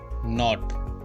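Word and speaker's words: knot: गांठ लगाई जाती है, और गांठ को बोलते हैं नॉट। इसमें के साइलेंट है, नॉट।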